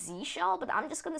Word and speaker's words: zsh: I think the official pronunciation is Z shell, but I'm just gonna say ZSH just to tick people off.